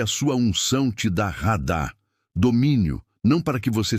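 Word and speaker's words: רָדָה: Radá se pronuncia radá.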